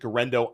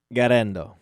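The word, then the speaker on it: Guerendo: guys like Jordan Mason give guys like Isaac gendo Matt am I pronouncing gendo correctly how do you pronounce gendo gendo okay so I mispronounced it thank you Matt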